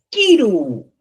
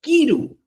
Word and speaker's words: kiru: La K que tenemos aquí es una tiene una pronunciación de forma sencilla, simple. Kiru, mira, fíjate, Kiru es simple y por consiguiente no